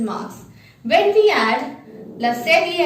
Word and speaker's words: cédille: So the last accent mark is la sedie. La sedie is the only accent mark that is used on a consonant C.